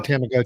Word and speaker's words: Tamagotchi: It was the Tamagotchi. Oh, I just spelled it wrong. I pronounced it wrong. Was that it? You Meow meant to say Meow Tamagotchi. Pronounced Tamagotchi.